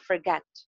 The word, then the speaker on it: forget: सबसे पहले तो ये प्रोनाउंसिएशन देख लें, it's not forgot, it's forgot. It's not forget, it's forget.